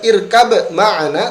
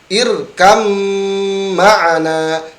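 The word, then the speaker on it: ارْكَب مَّعَنَا: Ingat, membaca huruf ini tidak dibaca irkab ma'ana, tetapi langsung masukkan ke huruf mim. Irkam ma'ana, irkam ma'ana ya.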